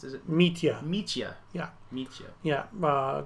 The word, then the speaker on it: Mitja: Mitja. Yeah. It's not a J. It's like a Y.